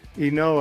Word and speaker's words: Ynoa: Okay, so Max Fried, Ian Anderson, Charlie Morton, and I don't know how to pronounce his name. What does the rotation look like? Huascar Ynoa. Ynoa, okay.